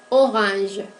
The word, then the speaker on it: orange: Orange. Avec la voyelle nasale aussi, un. Et avec les sons consonantiques, G. Esta forma de color es tan invariable.